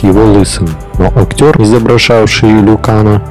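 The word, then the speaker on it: Liu Kang: Лю Канг. Другие варианты произношения имени Лю Канг. Лю Кэнг.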